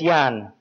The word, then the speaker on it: Jan: And it's pronounced like a Y, Jan. It's J-A-N, but it's pronounced like Jan.